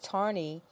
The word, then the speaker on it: Taney: Justice of Supreme Court Taney pronounced tarney is buried in the